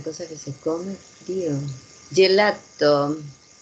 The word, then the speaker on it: gelato: Gelato. Ojo que no tiene doble, gelato. Ah, gelato. Ya, entonces ahí tenemos la pronunciación gelato. Mm, Acuérdense siempre, si no hay dobles, no paramos.